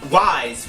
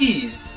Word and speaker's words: Ys: didn't have the internet, we used to call this Ys, we just didn't know, but it's pronounced Ys.